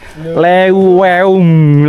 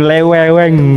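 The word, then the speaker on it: leuweung: itu sesuai abjat men ternyata kan kayak ada digabung ya E sama u itu Iya itu di Sunda tuh kayak ada e Jadi dibacanya e e kalau e u e e sama aja ya kayaknya terdengar sama kalau misalkan dalam dijadiin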